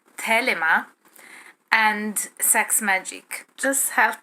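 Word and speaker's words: Thelema: things i lester crowley the tradition of felima which would be pronounced in greek telema and sex magic just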